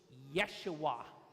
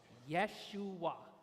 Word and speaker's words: Yeshua: said okay and then the last one is Yeshua Yeshua okay Yahweh hasid Yeshua again we will come